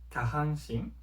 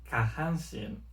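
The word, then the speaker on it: 下半身: Por ejemplo, si yo digo kahanshin, esto significa de cintura para abajo.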